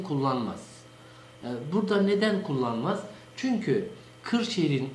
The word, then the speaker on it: Kırşehir: Çünkü Kırşehir'in Osmanlıca'da yazılışı kefle değil, yani normal k ile değil, gafla yazılmakta. Gı diye okunur bizim orada Kırşehir.